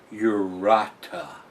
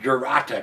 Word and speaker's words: Jurata: beer collaboration uh and according to the bottle it is pronounced urata urata urata I'm glad to put that little pronunciation there so we know how to pronounce some of this stuff because uh without that I'm GNA call it jata cuz that's how it's